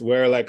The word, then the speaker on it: Weralak: All right, it's Werelak High Helm. It is spelled Weralak.